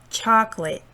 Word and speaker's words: chocolate: so for example here this word chocolate chocolate cha is a stressed syllable chocolate you know here